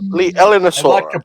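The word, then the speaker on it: Leaellynasaura: I struggle to say the name of constantly, Lineaellosaura, or Lineaellosaura, because it's spelled Leallynasaura. It's Oh, Jesus. Yeah. Thank you. Liaellosaura.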